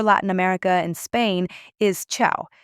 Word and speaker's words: ciao: My personal favorite and one you'll hear all over Latin America and Spain is ciao.